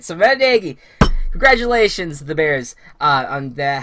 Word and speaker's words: Nagy: Also, we've been saying it wrong. Actually, it's Nagy. It is Nagy.